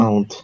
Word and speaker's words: aunt: Pueden decir aunt o pueden decir aunt. Aunt, aunt. Aunt. Las dos son correctas.